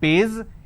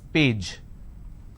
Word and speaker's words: page: i have the word which is page they pronounce this as pays it's not pays it's page sasha problem now this